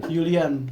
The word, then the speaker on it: Julian: Jerman kan J itu terus di Jerman J itu jadi Y Julian Yulian oh Yulian oh jadi Yulian nih bawa sama Laminama Laminamal.